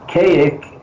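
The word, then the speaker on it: Kazik: of many years ago, which is Kayak is spelled, that was his summoning word for the Men in Black that they gave him. And it's spelled K-A-Z-I-K.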